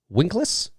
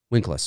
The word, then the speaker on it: Winkless: directed by terence h winklas winkles no no sorry winkless yeah i think that's how you spell it or how you say it excuse me the film